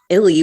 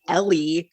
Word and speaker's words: Ely: Ely, which is spelled E L Y, but don't don't pronounce it Ellie.